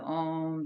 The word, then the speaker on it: Om: heat and the sound the inward sound of the OM the three syllable ohm sound we're sending that outwardly